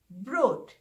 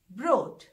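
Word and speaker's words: Brot: इसी तरह ब्रेड, तो जर्मन में किसी भी तरह की ब्रेड को ब्रोट कहते हैं, ब्रोट।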